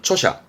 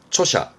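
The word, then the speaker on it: 著者: 발음은 초샤, 초샤.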